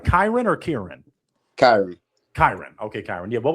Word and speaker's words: Kyran: KYRAN.